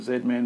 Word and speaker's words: Z-Man: some of these cards i'm pronouncing it zed-man because i believe they're canadian and like us they have the english alphabet but look a great